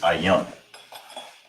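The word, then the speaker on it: ayin: Is ayan. That's how you say that, ayan.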